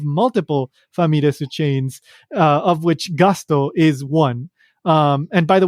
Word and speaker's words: Gusto: Famiresu chains, of which Gusto is one. And by the way, Gusto, I'm pronouncing it Gusto, but it's written Gusto, Gusto. In Japanese, it's pronounced Gasuto.